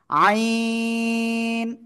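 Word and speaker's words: عين: নাম কি আইন আইন দেখেন আপনাদের কি ভুল হয়েছে অনেকে বলতেছেন এরকম আইন এরকম না আইন চার আলিফ টান হবে জোরে জোরে আইন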